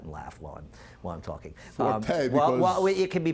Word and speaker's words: Forte: Now, is there a French pronunciation for F-O-R-T-E? No, the French pronunciation is Fort.